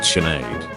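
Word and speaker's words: Sinéad: pronounced K naom is pronounced naive sinid is pronounced chenade soas is pronounced suha luxury yach is pronounced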